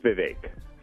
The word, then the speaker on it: Vivek: Vivek Murthy is it Vivek did I get that right you're close it's Vivek it's like it rhymes with League oh oh Vivek hey man we're out